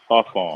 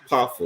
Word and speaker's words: parfum: de Toilette, however they pronounce it. Oh, Then they told that. Eau Cologne, perfume, and then extract the perfume. Parfum. Right. Parfum.